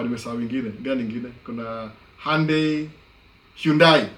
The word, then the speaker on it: Hyundai: wengine, gani nyingine, kuna Hyundai, sio aitanga Hyundai hapa. Hyundai. Ile pronunciation American ni Hyundai.